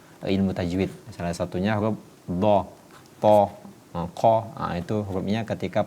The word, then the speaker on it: ض: langit-langit pada penuturan huruf dha. Rabbana arinal ladzaini adha. Tidak boleh dibaca doh, tapi ini huruf isti'alah.